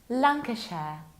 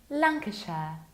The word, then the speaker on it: Lancashire: And analogically, this county is pronounced like Lancashire, Lancashire.